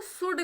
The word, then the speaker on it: should: तो शुड का मतलब होता है चाहिए, ठीक है, इसमें एल साइलेंट होता है।